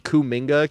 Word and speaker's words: Kuminga: Is his name's Jonathan Kuminga, K-U-M. So when they say cum bucket, they spell it with a K, K-U-M bucket.